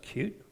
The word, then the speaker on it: Qt: and I explored cute QT pronounced cute a little and there